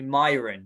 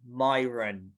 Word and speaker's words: Mayuran: And he said, it's not Mayuran, because actually my name, everyone calls me Mayuran, right? But this is a kind of English way of pronouncing my name, Mayuran, right? But it's actually Mayuran, right?